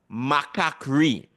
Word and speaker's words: macaquerie: And the second word, macaquerie. Macaquerie, which means monkey, it's really monkeyness. So fair. So think of what sound, let symbols give you the sound eh.